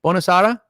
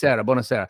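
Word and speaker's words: buonasera: How I say Bonasara? Because what I love about you is you always have the good pronunciation. Bonasara. Bonasera.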